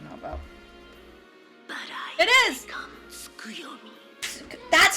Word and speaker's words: Tsukuyomi: Skuyomi.